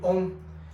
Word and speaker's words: Ohm: En 1827, el físico George Simon Ohm enunció la ley que lleva su nombre, ley de Ohm. Se pronuncia Ohm como si estuviéramos meditando Ohm.